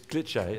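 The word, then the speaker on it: Glitché: It's Glitch-A. Glitch-A. It has an accent on the E.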